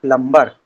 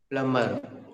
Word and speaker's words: plumber: Plumber. Plumber. That is a person who fits pipes and all. Plumber. दोस्तों इसका सही उच्चारण प्लमर ही है, बी साइलेंट होता है।